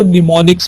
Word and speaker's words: mnemonics: कुछ symbolic code होते हैं जिनको हम निमोनिक्स कहते हैं। ये जो वर्ड है MNEMONICS, इसको आप, इसमें M साइलेंट है, आपने इसको निमोनिक्स पढ़ना है।